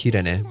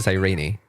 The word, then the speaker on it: Cyrene: In Japanese it's Kirene, but in English they pronounce it Cyrene.